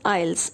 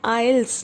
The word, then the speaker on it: IELTS: पड़ता है, that is आइल्स. इसका प्रोनाउंसिएशन है आइल्स, नॉट आइल्स. टी is silent here. और इस टेस्ट में एनालिटिकल